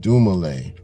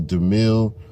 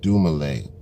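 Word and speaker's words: Dumile: Right above my government, Dumale. You know, you got to make sure you pronounce that name right. You know what I mean? My man's name is not Dumil or none of that other dumb shit.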